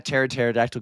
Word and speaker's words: pterodactyl: Hey, why can't you hear a pterodactyl go P? Because the P is silent. I know.